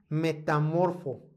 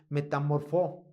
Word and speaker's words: metamorfó: Ahora, aquí hay una palabra muy importante, esta palabra de metamorfo o mejor dicho, lo pronuncié mal, metamorfó. Metamorfó.